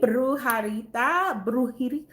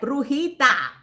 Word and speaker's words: Brujita: Hey, Brujarita. Wait, let me say it right. Brujita.